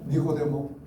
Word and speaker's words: 니고데모: 니고데모. 이 발음 정확하게 하셔야 돼요. 니고데모 했는데 니꺼 내꺼 아니에요.